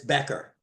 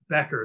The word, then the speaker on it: Becker: name correctly so so my loving nickname for him is bashera right but it's Becker Becker that's okay I want